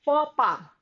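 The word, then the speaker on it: faux pas: u x and p a s it is pronounced fora it means a social blunder to commit a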